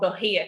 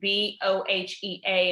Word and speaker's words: Bohea: And black tea was actually called Bohea tea, Bohea. And I think what that was a mispronunciation, or dare I say it again, another bastardization of the word, I think, of where it actually came from in China, which I think it was Wuhia or something like that.